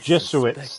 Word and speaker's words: Jesuits: I Jesuits.